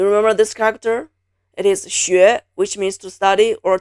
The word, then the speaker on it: 学: Now the 声母 takes the form of the letter X, but then it's pronounced 西. This one is very hard for people whose mother tongue is English because this sound 西 doesn't exist in English. The 声母 is 西, the 韵母 is 约. It's spelled 西约学, 西约学, as in 学习. So 学, 学, 学, 学.